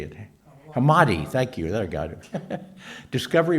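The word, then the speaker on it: Hammadi: hammerfield or Hammer how do you say it hamadi thank you there got Discovery remember in in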